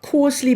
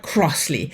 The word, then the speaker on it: Crossley: And that is Sloane, and I always get the R in the last name wrong, not Crossley, but Crossley.